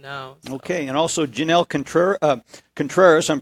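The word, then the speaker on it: Janel Contreras: Okay, and also Jenelles Contreras, I'm pronouncing that correctly, yes, from Merrillville, is joining us.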